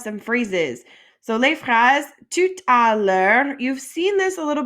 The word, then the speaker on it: tout à l'heure: And if you're having trouble getting that r sound at the end of words that end in re, like it helps if you keep your mouth open.